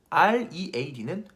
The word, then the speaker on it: read: 예를 들면 R-E-A-D는 read, L-E-A-D는 lead.